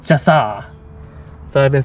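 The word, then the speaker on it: Chaw'se: okay so i guess according to this is pronounced chassa so i've been saying it the wrong way this whole time it's called chassa so we're checking out the chassa exhibit or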